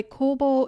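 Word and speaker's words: 公房: Mishima by the way Kobo is actually the Chinese pronunciation of the kanji that make up his Japanese name in Japanese his name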